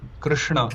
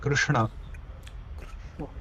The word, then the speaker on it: Krishna: Sh s clear or sh clearrishna thirdrishnaishrishna generally tongue is a bit lazy so rather you know third pronounce Krishna. Krishna.